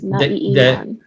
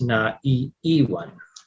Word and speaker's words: naiiwan: When it's just the vowel to start, Yes. so it's just the double vowel. It's not iwan. Yes. Because Naiiwan. yes, because why? Because the e is the first syllable. Mm-hmm. So it becomes na iwan.